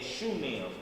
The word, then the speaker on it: Shunem: And the Philistines gathered themselves together and came and pitched in Shunem. Is that how you pronounce it? Yep.